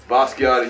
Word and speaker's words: Basquiat: Basquiat, you were mentioning like, you know, artists, yes.